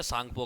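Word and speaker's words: Tsangpo: यहाँ पे T silent है बच्चों, ठीक है, सांगपो के अंदर टी साइलेंट है।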